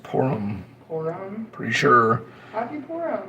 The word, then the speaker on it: Purim: Yeah, it's pronounced Purim.